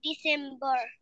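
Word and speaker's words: December: পি ই আর বার ডিসেম্বর আমি কি বললাম র টা উচ্চারণ করবো না এবং আমরা টি উচ্চারণ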